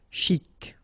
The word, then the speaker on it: chic: Okay, you pronounce the final C and then CH together. Sh. Chic.